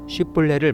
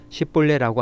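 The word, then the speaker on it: 쉽볼렛: 건드려는 사람들을 식별하기 위해 에브라임 사람들이 발음하지 못하는 쉬폴레를 말해보라고 해서 10벌레라고 하는 사람들은 모조리 죽였습니다 이렇게요 죽은 에브라임 사람들은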